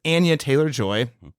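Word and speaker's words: Anya Taylor-Joy: Another, Laron, correction, I'm working on the names, corrections, mispronounced. It's Anya Taylor Joy, according to the internet, as Furiosa, Chris Hemsworth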